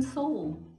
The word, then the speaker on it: Seoul: We're in Seoul.